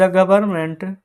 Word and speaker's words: government: तो द गवर्नमेंट, GOVERNMENT, ये friends गवर्नमेंट का मीनिंग जानते हैं गलती कैसे होता है, क्योंकि यहाँ पर ना एन साइलेंट होता है, ठीक है।